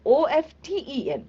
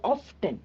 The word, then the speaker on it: often: So the spelling is often. Okay, but we don't say often. We say often. Okay, the T is silent, right?